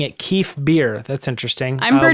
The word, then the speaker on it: Kef Bir: to be heading to Kef Bir. Do you guys want to say Bir? It's beer. Beer. Beer is how Matt Martin said. Kef. It's actually, he said it was Kef Bir, I think.